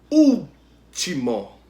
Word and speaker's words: último: Último. O u é a sílaba tônica, antepenúltima sílaba, né? Então ela é proparoxítona. A palavra último é proparoxítona.